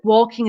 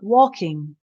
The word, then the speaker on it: walking: and K is um the L is silent so you would say it sounds like like or or so walking aing walking talking okay so just try and make that l g soft it's just walking not walking okay so